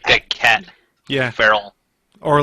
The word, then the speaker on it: Farrell: way as you do, and he says Pharrell. No, So it's Farrell. Like a cat. Yeah. Farrell.